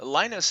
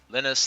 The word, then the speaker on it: Linus: I I've heard him say in interviews that he doesn't care how people pronounce it. You can go either way. So uh so Linus, Lionus, however you prefer.